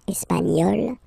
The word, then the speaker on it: espagnol: And then, l'Espagne, espagnol, nye, nye, nye, remember, espagnol, espagnol.